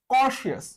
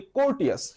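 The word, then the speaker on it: courteous: 35 number, কর্শিয়াস। আসলে উচ্চারণটা কর্শিয়াস, বাট আমি বলি কোর্টিয়াস। কেন? কারণ নামের মধ্যে একটা কোর্ট আছে।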